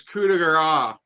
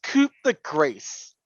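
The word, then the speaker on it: coup de grâce: It's coup de grace. That's how you say it. Actually, it's coup de grace. Yeah, we ain't French. Learn to speak French, guys.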